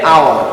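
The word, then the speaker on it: hour: For example, an আওয়ার, দেখো এইচ, তাহলে হাওয়ার হওয়ার কথা ছিল, কিন্তু আবার এখানে উচ্চারণ হবে এইচ এর পরে দেখো একটা ভাওয়েল আছে ও, এই ও থেকে উচ্চারণ আমার শুরু হচ্ছে আওয়ার, তাহলে এন আওয়ার বলবো।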